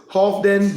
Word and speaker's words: Halfdan: He was known as Halfdan the Black, H-A-L-F-D-A-N the Black, or Halfdan, if you want to pronunciate it that way, phonetically, Halfdan the Black.